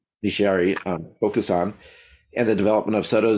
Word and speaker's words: Nishiari Bokusan: His thesis research focused on Nishiari, you help me with the pronunciation? Nishiari Bokusan, and the development of Soto Zen in Japan during the Meiji Period, which is 1868 to 1912.